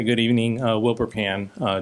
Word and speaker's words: Pan: evening uh wil bur pan uh w l b r p an like frying pan at 2 23 miltown